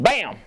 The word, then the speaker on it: BACM: BAM, you've reached BAM, BACM. It stands for Burlington Alliance Capital Management, but we call it BAM because the C's silent.